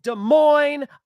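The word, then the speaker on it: Des Moines: UFC Fight Night is going down in De Moine, Iowa tomorrow. And yes, I said it right because I'm from the Midwest.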